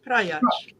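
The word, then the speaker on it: Praljak: In the Slavic languages, when you've got the L and the J, it's pronounced L, like okay. L. Yeah. So Prajac. Slobodan Prajac. Yeah, Prajac. Oh, it's like a CH at the end.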